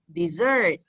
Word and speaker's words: dessert: the first syllable dessert on the second syllable dessert what about compound noun